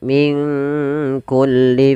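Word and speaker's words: من كل: lebih Harusnya sama kemudian Min kulli fakihatin zaujan nun mati ketemu Kaf di sini kita namakan dengan bacaan Ikhfa maka cara membacanya samarkan nunnya kepada huruf Kaf minkku langsung kepada makhraj huruf Kaf Min kulli fakihah P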